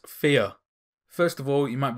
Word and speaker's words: Fe: the game number 6 fear first of all you might be wondering why on earth I just called it fear well that's actually how it's pronounced according to the developers anyway on to the